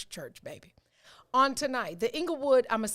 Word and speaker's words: Inglewood: entire village, which includes Inglewood. So make certain, or in my TV broadcast voice, because this is how they say it. Another thing that irritates me, angle. They say the E like Anglewood.